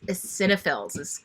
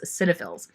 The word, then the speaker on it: eosinophils: white blood cells, one of them is called eosinophils. You might not know how to pronounce it, but that's the way it's spelled, but that is how it's pronounced, is eosinophils.